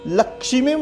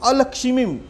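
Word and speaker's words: अलक्ष्मीम्: शुत्पित पासमलाम ज्येष्ठाम लक्ष्मीम नाशयामहम अभूतिम समृद्धिम च सर्वाम निर्णुत मे गृहात्।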